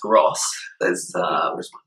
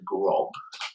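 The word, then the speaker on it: Groß: I say it correctly. It's Gross. But it looks like a Grob if you don't quite understand the German B thing. But Gross, Pascal. Gross. Great pick.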